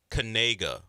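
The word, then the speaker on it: Knigga: Noah Kanega. We found out that's how you pronounce his name.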